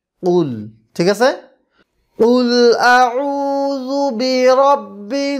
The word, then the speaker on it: قل: তো কীভাবে উচ্চারণ করতে হবে? قل قل ঠিক আছে, قل اعوذ برب الناس قل اعوذ برب الناس ملك الناس ملك الناس ملك এখানে কি আছে?